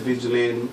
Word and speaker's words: Vigilanee: It's called Latin Stars with me as Vigilane, VIGILANEE. So where did that come from? It's spelled Ebonics.